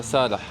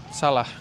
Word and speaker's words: Salah: My name is Salah. Sada. I'm from Salah. Salah. Salah. Oh, you pronounce the ha.